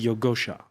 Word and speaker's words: Yogosha: of yogosha it security did I pronounce that right yeah perfectly yogosha okay uh Google France